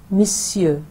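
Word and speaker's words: monsieur: अब पहले आप एम ओ एन जो है उसको ऐसे इमेजिन करें जैसे एम आई एस लिखा हुआ है. तो मिस्यू, मिस दो सिलेबल्स हो गए, मिस सियर, मिस सियर.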